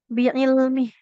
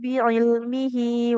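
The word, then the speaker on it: بعلمه: Kalau kita berhentikan dia hanya jadi ha sukun biilmih. Biilmih. Tapi kalau sahabat semua lanjut contohnya bacanya anzalahu biilmihi wal malaikatu yashadun. Maka h-nya jadi panjang dua harakat. Nah.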